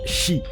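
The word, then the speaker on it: 四: Par contre, au Japon, le chiffre 4 se prononce Shi, qui veut aussi dire le mot mort dans le pays du soleil levant.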